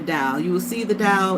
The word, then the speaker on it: Tao: If you can name the dow, if you can describe the dial, then what? It ain't the dial. You will see the dow it's t ao. The t is pronounced duh.